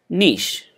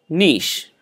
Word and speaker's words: niche: it cough cough cough this particular word it's a french word it sounds so beautiful let's pronounce it correctly niche niche niche okay all right